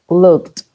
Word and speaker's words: looked: ¿Cómo se pronuncia esa ed? Como una T. Helped, looked.